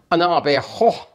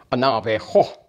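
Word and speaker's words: Naabeehó: many different ways, but originally it was pronounced Anabeho, is how they would say it, Anabeho. But when the Spaniards heard that word, of course, they gave it the Spanish pronunciation and the spelling and that, and it came out Navajo.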